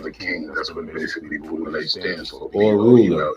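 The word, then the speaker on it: Boule: That's what basically Boulay stands for. Or ruler. B-O-U-L-E, pronounced B-O-O-L-A-Y.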